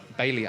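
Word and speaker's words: Bailly: Bailey, I hate calling him Bay, but apparently that's how you say his name.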